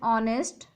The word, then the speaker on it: honest: The sound is of a vowel, so we'll use here N because H is silent here and the sound is O.